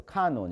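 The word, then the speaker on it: canon: 그래서 보통 이건 라틴어예요. 캐논이 아니라 카논이라고 읽어. 카논 이렇게.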